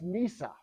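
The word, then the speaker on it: נִסָּה: It's pronounced Nisa.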